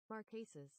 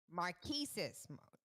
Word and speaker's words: Marquesas: Y'all know we gonna do the correct pronunciation. I'm not butchering nothing else this year or next year. Marquesas. Marquesas. Marquesas.